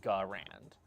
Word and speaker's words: Garand: Gray Bush, tell me why it's supposed to be Gurand instead of Garand. Because if he wanted me to pronounce it Gurand, he should have used an E instead of an A. Just saying how it is.